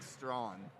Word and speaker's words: Strawn: When you say her last name, think of saying it like Strawn, or take the word yawn and remove the Y and add the STR.